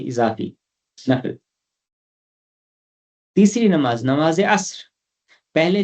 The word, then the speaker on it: عصر: ہیں، ہم فجر، ظہر، عصر یہ کرتے ہیں، یہ اس میں جو دوسرا حرف ہے وہ ساکن ہے۔ فجر، ظہر، عصر، مغرب،